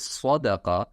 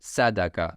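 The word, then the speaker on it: صدقة: if the word is Sadaqa, so we pronounce Sadaqa, not Sadaqa. So if the that person is, non-Arabic, so he will pronounce like Sadaka with seen, because there is no pronunciation for swad.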